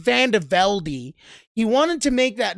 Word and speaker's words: VandeVelde: thing about Chris vandervelde is is yes it's pronounced vandevelde he wanted to make that very clear from